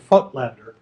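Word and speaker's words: Voigtländer: company called petzval and footlander generally referred to as the footblender weightlander weightlander is how it's spelled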